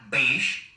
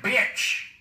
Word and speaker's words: Bitch: That's yep, that's how it's spelled and pronounced. Not like Bic, that. Not Beesh. Mr. Bitch.